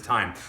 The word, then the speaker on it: thyme: bit of thyme okay looks like it's spelt theim th Y a me but it's time so all we do